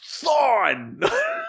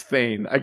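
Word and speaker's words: Thawne: It's pronounced Thorn. Not Thorn. My dad is convinced that it's Thane. His whole time reading comics, he was like, Eobard Thane.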